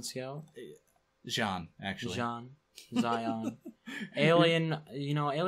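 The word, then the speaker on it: Xi'an: The Zion Scout? Jean, actually. Jean. Zion. Alien pronunciations are very difficult.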